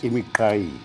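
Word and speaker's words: Imiqhayi: I must just help you with the pronunciation. Yes, please. Imikai. Yeah, Imikawi. I listened to you last week. You say Imikawi. It's Imikai. Okay. You've got to get used to the clicks.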